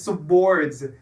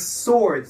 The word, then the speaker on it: swords: No one says swords. It's swords. The W is silent.